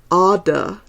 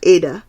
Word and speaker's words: Ada: It's Ada, not Ada, as it looks. You rhyme it with ardor.